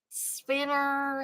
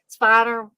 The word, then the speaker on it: Spiner: So I'm never sure if it's Brent Spiner or Brent Spinner. He played Deadites. Spiner. Okay, thank you. Yeah. Okay. So we also have Brent Spiner playing the Reverend, and